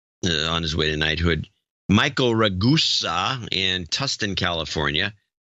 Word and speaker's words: Ragusa: Michael Ragusa in Tustin, California. His name is pronounced like Vegas.